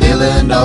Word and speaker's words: Illinois: It ends with an S, but don't say it, boy, when mentioning Springfield, Illinois. Oh, that's a silent man. Oh, man. I'm sorry. I meant to say Springfield, Illinois.